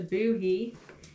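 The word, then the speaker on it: Bohea: Booty, pronounced a boohee, is a distinctive black tea blend with a light smoky flavor. It was so popular in colonial times that boohee became the common word for tea.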